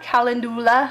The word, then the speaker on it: calendula: Quinoa, calendula, that's how you say it, and aloe.